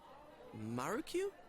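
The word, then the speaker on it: Marukyu: mean Mara - hey you should pronounce it like the way a Japanese person would mark you Mark you tofu oh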